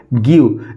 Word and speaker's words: give: तो व लिख देंगे, ई है साइलेंट है तो क्या हो गया? गिव।